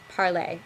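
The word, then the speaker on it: parlé: in leaving me with parlay that's the par P okay it's pronounced exactly the same way as the infinitive is moving on to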